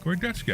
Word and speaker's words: Gordetsky: Deb Anderson and Svetlana Gordetsky. Is that right? Gordetsky. I said her name right. Absolutely right.